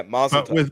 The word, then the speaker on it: mazel tov: Yeah, mazel tov. But with a V, like tough.